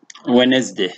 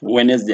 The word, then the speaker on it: Wednesday: examples for instance uh look at the word we sometimes we say wednesday wednesday and that is a spelling pronunciation when you say wednesday